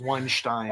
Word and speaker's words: Weinstein: The correct pronunciation is Weinstein.